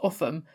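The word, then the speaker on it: Ulgham: Our final English one is Upham in Northumberland, and this one often confuses people outside of the northeast because it's pronounced Upham despite the fact it looks like it should be something like Ulgam, and that was why I wanted to have a look.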